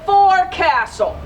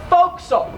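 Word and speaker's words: forecastle: word right here the for castle that's how it's spelled right if you were reading that would say for Castle well Sailors like to shorten their words so they called it a fil this is where you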